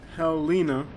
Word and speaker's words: Helena: It's Helena, pronounced Helena actually, according to Wikipedia here.